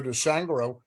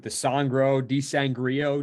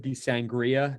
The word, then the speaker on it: DiSangro: Right on the money, Stan. Some people, they get me with DiSangro, DiSangria.